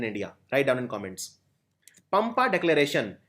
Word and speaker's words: Pampa: Pampa Declaration. It's a 7-point action plan for conservation of the river Pampa. It is also sometimes pronounced as Pamba.